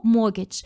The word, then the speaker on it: mortgage: the mort the why why is it called mortgage because mort mo in like mort in French is death. You would die if you take out a mortgage. Exactly. Mortgage. Mortgage. Mortgage. So more like mortgage and not mortgage. I see. We use letters no one hears but we have them.